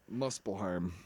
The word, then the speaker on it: Muspelheim: Muspelheim. Mucilheim. That's how they pronounce it in the God of War game.